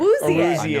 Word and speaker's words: Awuzie: That's the Awuzie, thing. it was correct. Awuzie.